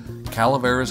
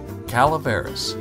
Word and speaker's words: Calaveras: deep at our website Calaveras gold. TV now that's Spanish caleris c a l a v r a s gold G .tv you got